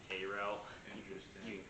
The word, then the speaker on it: Cairo: We'll put 2 in Cairo, and is that Cairo? Yeah, they pronounce it Cairo.